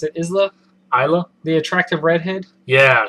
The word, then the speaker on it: Isla: then uh he's the Fisher that's how you pronounce it Isla Isla the attractive redhead yeah she's the Tooth